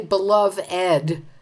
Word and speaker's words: beloved: Why do we say beloved, as in dearly beloved, we are gathered here? Most other words with an ed ending don't have the ed as a separate syllable.